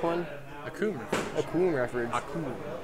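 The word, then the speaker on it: Akoum: Akum. Rhymes with Doom.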